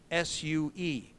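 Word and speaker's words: Sioux: talking and I say, you pronounce it S-U-E, Sue.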